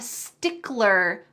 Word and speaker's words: stickler: It is a stickler, or to be a stickler for something. Don't forget that L in there, stickler.